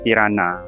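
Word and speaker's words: Tiranë: J dia tu dia baca Y. E dia tu baca A. Kristina dengan Tirana ejaan dia Tirane Christine tapi cara baca dia Christina dengan Tirana. So sekarang kita nak pergi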